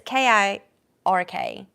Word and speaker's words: Kirk: spelled like that it's k i r k whatever I wait it's Captain Kirk it's not kurk oh I always thought it Captain KK no it's not kurk anyway good to have